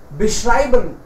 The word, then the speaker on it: beschreiben: Ya, beschreiben. Do tin word ko achhe se matlab bola nahi. Beschreiben. Bolo isko beschreiben. Beschreiben. Sir, ye beschreiben nikla tha. Mujhe pata hai. Likha yahi tha aur pronounce galat kara.